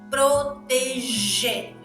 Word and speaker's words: proteger: ver neste verbo proteger Olha a pronúncia proteger o g e o G tem o mesmo som do J Então me provo que